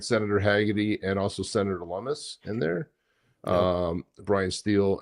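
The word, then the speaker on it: Lummis: Lumus rhymes with hummus.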